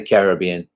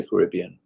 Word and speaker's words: Caribbean: the caribbean you know i say the caribbean because that's how we pronounce it in england i don't say caribbean korea but then i think